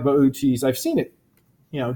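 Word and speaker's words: Boötes: you don't know it others we pronounce incorrectly is bootys which I always pronounce bootys and I'm pretty sure it's supposed to be something like boaties I've seen it you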